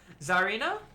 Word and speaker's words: Zarina: to jump in there it's pronounced czarina okay I'll try and